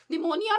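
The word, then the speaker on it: pneumonia: third what is numonia निमोनिया में जो है आपका पी इस साइलेंस सो करेक्ट स्पेलिंग इस पी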